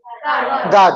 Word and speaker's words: guard: गार्ड. गुआर्ड तो कोई भी नहीं बोलता ना भाई. गार्ड पढ़ते, इसको बॉडी गार्ड पढ़ते.